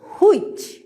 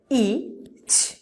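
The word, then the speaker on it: which: please look at this W এইচ আই সি এইচ আমরা এটাকে বলছি হুইচ অলওয়েজ আমরা এই ওয়ার্ডটাকে এভাবে উচ্চারণ করছি হুইচ but what is our sound symbol saying sound symbol সেই ইচ ইচ that means হুইচ again sound symbol ইচ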